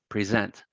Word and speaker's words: present: So for example, anytime these are used as verbs, the stress is on the second syllable: present, progress, record, rebel.